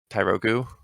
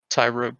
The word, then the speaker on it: Tyrogue: so I gave half of them to my Tyrogu, if that's how you say it, and now I have a Hitmonchan, and I got like 1500 XP, which was like 6 levels at the time. Tyrogue, by the way.